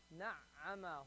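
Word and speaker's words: نعّم: Na'ama. Hold the ayn. You have to hold that sound. Hold it.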